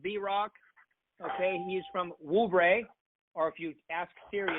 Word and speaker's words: Whobrey: We actually say it Whobrey.